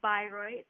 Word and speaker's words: Bayreuth: So yeah, I am at the University of Bayreuth. That's the German pronunciation in Germany.